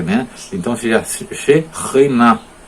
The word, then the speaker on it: Shekhinah: Não é Shekinah, é Shekhinah. Tá? Porque a palavra, lá no meio da palavra tem KH, mas em hebraico a transliteração correta seria CH.